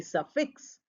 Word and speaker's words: suffix: say prefix we we don't say prefix we don't stress that we say prefix and we say suffix the stress falls on the fix this you will learn